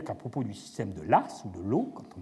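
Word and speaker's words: Law: le français, eh bien, c'est un nom écossais, mais on l'écrit l'as. On le prononce l'as.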